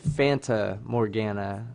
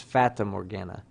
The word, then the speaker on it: Fata Morgana: I said Fanta Morgana, I think is what I said, but it's Fata Morgana.